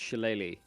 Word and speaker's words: shillelagh: Apparently it's pronounced shillelagh.